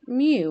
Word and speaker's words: mu: and a u ironically if you were to cross the m and u together and say it it might come out something like saying mu which is how you actually pronounce this symbol so this symbol